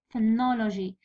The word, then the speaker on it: phonology: في syllable الثاني. Preserve. Phonology. جي الأخرى. من بعد لو الثانية ونو. جي في النو. فنولوجي خاطر كلمة تسقد بجي هذا هو القانون.